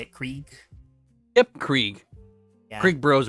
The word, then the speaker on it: Krieg: Krieg.